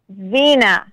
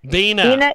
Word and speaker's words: Vena: to make sure i get your first name pronounced correctly is it veena or vena vina vina vena okay because i did not